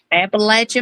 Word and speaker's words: Appalachia: Appalachia Mountains.